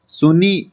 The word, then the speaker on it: सुनहनी: Option C, that is सुनहनी। सोनी इसकी pronunciation रहेगी सोनी।